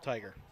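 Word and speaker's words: Tyger: 24 of Southwestern game tiger you know that's proper pronunciation but t-y-g-e-r I will go with tiger and another first down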